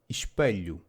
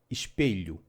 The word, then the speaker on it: espelho: The same goes for abelha, bee; coelho, rabbit; and espelho, mirror, which can also be pronounced abelha, coelho, and espelho. If you find it easier to pronounce abelha, coelho, and espelho, because the sound is more recognizable as an E, please do so.